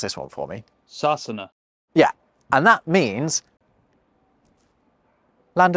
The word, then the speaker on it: Sasana: The Irish Gaelic name for England is, well, hold on, I actually got an Irish friend, Arthur, to pronounce this one for me. Sassana.